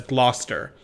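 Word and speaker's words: Gloucester: and take a left you pronounce Glouchester as gluster you're not supposed to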